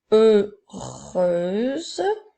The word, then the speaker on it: heureuse: une note muette alors heureuse je te rappelle que la lettre S va faire le son lorsqu'elle est entourée de voyelles heureuse comme dans la phrase